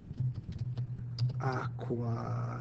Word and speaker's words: aqua: drink his wine Co aqua and that should have a long Mark Aqua maybe I'll do that to show that a long a uh Kum Aqua uh